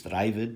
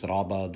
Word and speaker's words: Rabad: I often hear people today pronounce this Ravid, the Ravid, but whatever the case, there's three different men who are known as Rabad or Ravid, and he was the first, apparently, right?